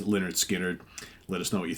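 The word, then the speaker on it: Lynyrd Skynyrd: today pick number eight Leonard skinnard pronounced Leonard skinnard let us know what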